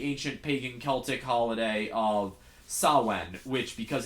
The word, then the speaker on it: Samhain: pagan Celtic holiday of Samhain, which, because it's Gaelic, if you translate it to English, is spelled, if you were to say it as it's spelled, Samhain. It's okay. Samhien. So he's Sam.